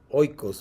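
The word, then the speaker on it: οἶκος: Hemos hablado aquí en los cursos que viene de la palabra casa, oikos, ¿verdad? O okos, como lo pronuncian ahora los griegos.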